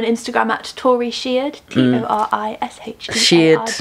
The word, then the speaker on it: Sheard: Sheard like beard.